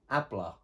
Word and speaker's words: habla: at the front but we don't actually pronounce the h so it's abla so now we can